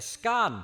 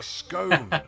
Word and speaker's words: scone: It's a scone. It's a scone.